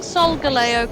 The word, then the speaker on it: Solgaleo: on down here am i pronouncing soul galleo correctly yeah that's how i pronounce it i just remember watching a youtuber pronounce it pronounce it solgaleo i'm like that sounds